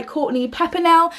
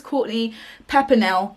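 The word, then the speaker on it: Courtney Peppernell: a pure thought by Courtney pepper now now I've been pronouncing her name completely wrong in some including my TBR for this week the thong so I'm so sorry it's courtly pepper Nell I thought that wasn't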